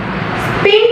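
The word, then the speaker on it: spine: അതുപോലെ തന്നെ സ്പിൻ plus E സ്പൈൻ കണ്ടോ സൗണ്ട് ഓഫ് ഐ ആണ് അവിടെ അല്ലേ.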